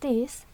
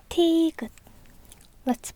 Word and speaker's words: 티읕: Được rồi, tiếp theo là 티읕 티긑(X) 티읕(O) 🙏Xin lỗi vì lỗi của tôi🙏.